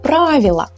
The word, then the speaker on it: правила: So the emphasis stays here and we pronounce it as правила. So it sounds almost the same.